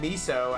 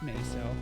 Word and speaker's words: Miso: two-thirds with the big miso as always actually it's pronounced meso mayfield and here we